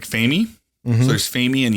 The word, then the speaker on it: Femi: So Femi or Femi? It's Femi. Femi.